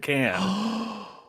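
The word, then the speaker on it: Cannes: festival oh that's right I want to say it's pronounced KH I pronounced it KH and then he said can and he didn't correct me but I was like you spent two weeks there so I feel like I should say can oh Daren is tunnel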